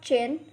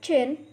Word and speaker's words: jin: The next Pinyin is Jin, has a pronunciation of Chin. Repeat after me, Chin.